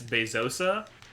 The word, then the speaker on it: Bezos: probably i'm getting told i mispronounced bezos's name it's bezosa but i frankly that's right don't believe that that is right see it sounded like